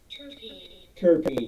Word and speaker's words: terpene: stuff oh yeah okay let me make sure terpene yes that's how it's pronounced it's basically um a hydro carbon found